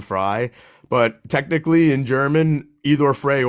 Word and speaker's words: Frey: when people call me Frey because I do pronounce my name fry but technically in German